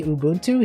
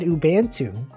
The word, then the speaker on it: Ubuntu: not say it right he didn't say Ubuntu he said ubu he's like you should